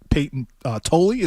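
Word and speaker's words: Payton Tolle: So they called up the number 2 prospect, Peyton Tolley.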